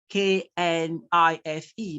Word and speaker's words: knife: K-N-I-F-E, but that is not what you pronounce. This is what you pronounce. And this is a transcription, knife.